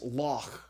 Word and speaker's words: loch: a CH if if you can kind of put a Scottish accent on the Scottish word for Lake its law okay Loch Ness it's a kind of